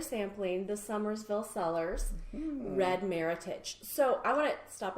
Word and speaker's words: Meritage: the American version and I like to say it's our American heritage or meritage that's how your number to say it like that and uses basically